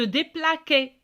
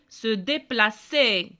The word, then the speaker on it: déplacer: Parce que si je ne mets pas cédille غتولي se déplaquer. Parce que c'est avec A se prononce que. C'est pour cela que j'ajoute cédille pour prononcer se déplacer.